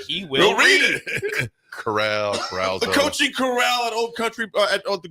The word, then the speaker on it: Corral: called Golden carral Golden Corral they says somebody informed ad on the correct pronunciation coaching car I was saying Carousel I meant to say Carousel yeah I was like